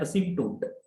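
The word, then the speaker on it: asymptote: इसमें p silent होता है, बोला जाता है असिम्प्टोट।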